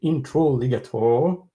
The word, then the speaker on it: Introligator: So thank you, Introligator, which rhymes with alligator, but you are even more kind than that, of course.